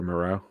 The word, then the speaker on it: Moreau: I can't pronounce his name. Yeah, it's Foster Moreau.